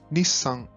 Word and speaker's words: Nissan: Agora, um nome bem simples, Nissan, com essa pausa na pronúncia entre o ni e o san.